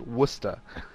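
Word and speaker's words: Worcester: know that it's pronounced wer but uh instead of whatever it's supposed to be pronounced as based on spelling but anyway um by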